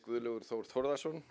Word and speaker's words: Guðlaugur Þór Þórðarson: I can assure you that this is not the worst pronunciation of my name I've heard. But my name is Guðlaugur Þór Þórðarson, and I will check